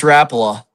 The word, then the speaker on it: Rapala: So, okay, Rapala or Rapala? It's Rapala. Rapala.